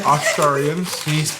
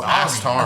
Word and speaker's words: Astarian: Well, the H is silent. It's Astari. Oh, Astarian.